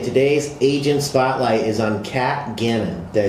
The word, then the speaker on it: Kat Gannon: This is of Realty, and today's agent spotlight is on Kat Gannon.